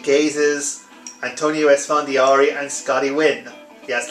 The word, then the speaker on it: Nguyen: antonio esfandiari and scottie nguyen yes like i said in previous videos although it's spelled that way it's pronounced win uh let's see we